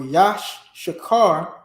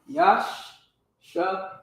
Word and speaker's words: Issachar: The word Issachar or Yashakar, which is the proper pronunciation, Yashakar. Yashakar. All right? That's how you properly pronounce Yashakar, Issachar.